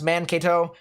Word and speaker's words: Mankato: here this morning that it's pronounced mankato and uh i will continue to uh say mankato from now on uh instead of uh mankato you know so mankato